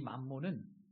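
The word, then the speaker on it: μαμωνᾶς: 본문에서 돈이라는 표현이 재물이라는 단어로 나오죠.이 이 재물이라는 단어는 헬라오로 만몬이라고 읽습니다. 그런데이 만몬은 세상을 상징하는 성경에서 세상을 상징하는 바벨론에서 돈의 신이었습니다.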